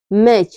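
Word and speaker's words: match: पर T silent है मैच मैच में क्या है मैच में टी के बाद सी एच आया हुआ है तो हमारा टी साइलेंट है कैच में भी टी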